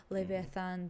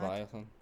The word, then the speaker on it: Leviathan: sirens and mermaids and leathan that was I don't know if I pronounced that so if I did not Leviathan Leviathan yes I I like the